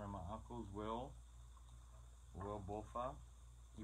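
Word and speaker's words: Balfa: Will Bofa. He pronounced his name and spelled his name Bofa.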